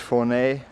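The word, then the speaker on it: Fornells: That was the entrance over there to Fournay, written Fornals, but pronounced Fournay. Well, it's 10 o'clock. We've got the sails up and they're pulling nicely. We're just leaving Fournay and we're going to go round that cape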